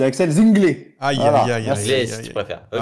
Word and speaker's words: Zinglé: C'est pas Axel Zingle, c'est Axel Zinglé.